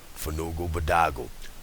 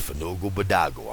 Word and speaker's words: Fanugalbadogal: should be in there remember Fugu badago pass the blunt pass the blunt Fugu badago it's spelled f a n u g a l b a d o g a l again that's Fogo badago I'mma spell it for you one more time